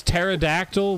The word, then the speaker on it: pterodactyl: There's pterodactyl with a silent P.